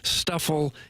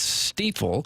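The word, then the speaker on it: Stifel: say the word steifel it's not Stuffle it's not stifle it's steel we should know that because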